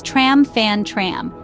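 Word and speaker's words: trăm phần trăm: when it comes to toasting the word is tram fan tram pronounced tram from tram which means 100% it's customary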